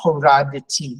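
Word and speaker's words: הורדתי: You're correct to close the syllable rad, horad. But because it's followed by this tav, we need to give a little oxygen to make a transition. Horaditi. You can go horaditi.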